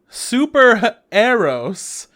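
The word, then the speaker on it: Super HxEros: right next one yeah super arrows that's how they were pronouncing it an anime expo it's superheroes with an x before the e uh made by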